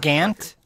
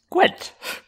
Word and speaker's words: Gwent: Gant? You play Gant? It's pronounced Gwent.